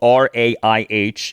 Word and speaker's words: Raih: David Raih, his last name is spelled r a i h, is pronounced Raih.